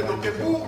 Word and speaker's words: Wagner: Wagner, come lo dice lei, si scrive W-A-G-N-E-R, ma si legge Wagner. Wagner è tedesco, non è né inglese né americano, ed è un partanese.